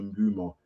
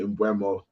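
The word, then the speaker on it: Mbeumo: but I've heard that it's actually Mbumo. So yeah, that's what I heard. So I'm not just, if you feel like if I accidentally say Mbuemo, then yeah, it's because I'm getting used to repronouncing his name. And also if I say Mbumo, it's not because I'm saying it wrong.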